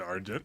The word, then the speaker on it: Argent: our flame is my flame is Argent down that's exactly how you say it but our flame is